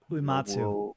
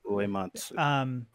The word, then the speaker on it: Uematsu: Uematsu. Uematsu.